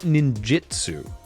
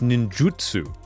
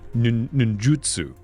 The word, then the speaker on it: ninjutsu: as guilty of this, it's not ninjitsu, it's ninjutsu. It's a U, not an I. And you pronounce Japanese exactly the way that it's spelled when it's romanized. So it's ninjutsu.